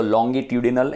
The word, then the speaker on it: longitudinal: है उसका नाम है लॉन्जिट्यूडिनल पोजीशन. इसको लॉन्गिट्यूडिनल ऐसा भी प्रोनाउंस करते हैं, है ना.